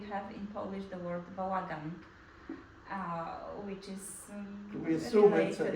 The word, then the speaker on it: bałagan: But your use of bałagan, how do you say it? Bałagan. Polish is Bałagan penultimate is syllable probably pronunciation.